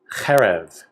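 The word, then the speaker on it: חֶרֶב: The word for sword, cherev. It has an accent on the first syllable, and it's a two-syllable word.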